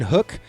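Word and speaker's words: Huk: And, um, so this one is Captain Hook, uh, but it's spelled H U K.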